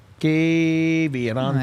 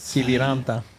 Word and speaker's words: Kiviranta: Kiviranta. There it is. Kiviranta.